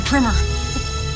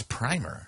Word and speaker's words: primer: It's She's saying it wrong. It's primer.